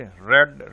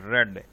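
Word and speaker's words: read: रीड, रेड, रेड। अब इसको देखें, प्रोनाउंसिएशन इसकी तब्दील हो गई है, स्पेलिंग इसके वही रहेंगे, रीड, रेड, रेड।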